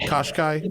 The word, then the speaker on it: Qashqai: in in what became koshka is it caught Americans can't pronounce it is it koshkai it is koshkai right yeah don't worry